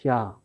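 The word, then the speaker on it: chat: 샤. 그런데 이때 T가 묵음이죠. 그런데 이 여성형으로 쓰면 T를 하나 더 썼고 얘를 썼으면 샤트랍니다. 그때는 발음이 살아납니다.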